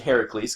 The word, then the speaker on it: Heracles: Heracles or her know what is Heracles because there's an A in it right how do you spell Hercules is it spelled differently or they spelled the same Hercules Hercules anyways it's oper Heracles cuz that's how you're supposed to say it and it was a